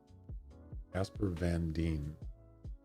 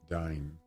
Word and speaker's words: Casper Van Dien: How do you pronounce that? Casper Van Dien. Yeah, that's him. Or is it Dine? Diane.